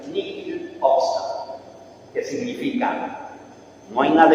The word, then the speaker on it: nihil obstat: Junto a ese permiso hay una palabrita, o unas palabritas en latín que se pronuncian nihil obstat, que significa no hay nada en contra, todo está bien.